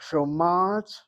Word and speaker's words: שומעת: האישה, האישה שומעת, שומעת, שומעת. האישה שומעת אל סיפור. Okay, well, first read the sentence as is before we change it. האישה שומעת. שומעת. You hit the mem with the patach. שומעת.